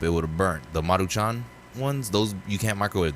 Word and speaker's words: Maruchan: I've always thought that was pronounced machin. No, it's Maruchan.